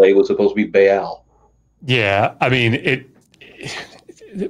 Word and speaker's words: Baal: So it's Baal, two syllables.